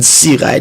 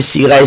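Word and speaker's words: Cirail: Suivez-nous sur YouTube, tapez Sirail, D-A-V-I-D Sirail, C-I-R-A-I-L, comme ça se prononce.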